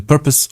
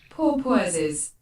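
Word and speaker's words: porpoise: that's not this that's not how it's pronounced oh poor PES okay the Google The Google pronounce cator does not know how to pronounce but I've heard it several times it's called a purpose a purpose a purpose all right don't you mean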